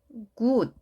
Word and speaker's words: good: 이 단어의 발음을 good 이렇게 입술이 앞으로 나오지 않고요. 오히려 옆으로 살짝 길게 해주면서 good, good, good 이런 느낌으로 발음을 해주시기 바랍니다.